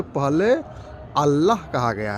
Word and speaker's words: अल्लाह: इसको हम लोग ऑल कहते हैं और ऑल उच्चारण गलत है। वास्तव में ए डबल एल का उच्चारण जो है अल होता है।